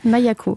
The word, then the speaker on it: Maïa-Ko: Vous avez 36 ans, donc vous avez fondé Maya-Co, ça se prononce comme ça? C'est ça, Mayako.